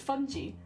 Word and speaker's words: fungi: in the documentary it's fungy like like bungee jumping but with with mushrooms I really like it but this is a thing yeah like the fungi puns I feel like it's it must be pronounced like that because otherwise none of the fungi puns work but they wouldn't stop pronouncing